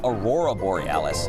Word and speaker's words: Aurora Borealis: Okay, first off, you're pronouncing it wrong. It's Aurora Borealis.